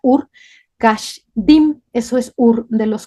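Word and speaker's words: אור כשדים: caldeos se escribe bueno se pronuncia Ur Cash diim eso es Ur de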